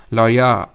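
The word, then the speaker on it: लौरिया: ल है ठीक है कुछ और मत प्रोनाउंस करिएगा इसको लरिया नंदगढ़ ठीक है यह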